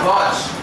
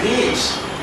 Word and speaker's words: gauge: GA is Workshop GA it is not gge some faculties also pronounced gge no it's a gage pronunciation should be correct